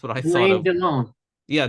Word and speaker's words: Delon: Delon. Yeah, Delon.